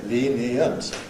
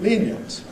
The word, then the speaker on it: lenient: Some will say, well, 3, obviously, lenient. Others will say, oh, no, there are 2, lenient. Who's right? Well, they're both right. Because this kind of word may be pronounced either way in English.